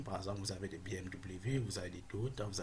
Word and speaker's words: BMW: Donc par exemple à ce niveau, si je mets BMW, ok, BMW, donc tout simplement je prononce V parce qu'on dit W c'est V en allemand.